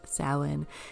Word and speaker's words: Samhain: It looks like it's written Samhain, but it's actually pronounced Samhain.